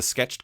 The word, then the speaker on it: SKTCHD: but I'm also the sketched guy or the off-panel guy and so or the sketch D guy a lot of times people mispronounce sketched uh which is funny because it's a fake word so it's totally understandable